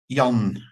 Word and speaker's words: Jan: uh Jan or John how do you pronounce it there yon y it's like yanes yanes the Yankees is